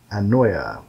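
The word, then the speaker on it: anoia: that is spelled a-n-o-i-a annoya excuse me okay uh uh sorry the the emphasis is on the noi and it's an uh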